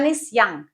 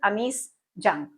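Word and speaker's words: Anees Jung: और ये American pronunciation भी है इंग्लिश की, कि अगर इस तरह के नेम है तो वो उसको उनकी प्रोनाउंसिएशन ही यही है कि वो क्या पढ़ेंगे उसको? एनिस यंग। बट हम इंडियंस क्या बोलेंगे? जो उनका नाम है एक्चुअल, अनीस जंग।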